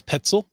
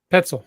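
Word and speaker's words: Petzl: I I'm gonna assume it rhymes with pretzel and it's petzel petzel yeah I've seen petzel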